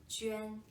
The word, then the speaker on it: Juan: Ji, Yu, An, Juan. Here. Ji, Yu, An, Juan. With a tone, and that's how my name is pronounced.